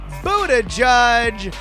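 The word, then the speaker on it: Buttigieg: Donna try but your headliner it's pronounced food a judge cuz he can't smell that smoke with 47%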